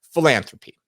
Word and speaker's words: philanthropy: Number 7 is the last P, philanthropy. Doesn't sound like it starts with a P, but it is spelled with a P, so it still counts. And it's not an F.